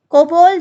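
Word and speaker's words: COBOL: कोबोल, जावा, basic, assemble. देखो कोबोल और कोबल, यू can pronounce anything, ठीक है।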